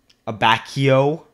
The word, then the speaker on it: Abacchio: to pronounce, and then, Abacchio, right? Pronunciation is spot on.